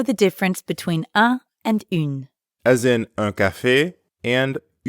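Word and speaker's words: une: as in in pizza start by saying in like the final sound in the english word seen but then round your lips forward like you're blowing a kiss so in becomes let's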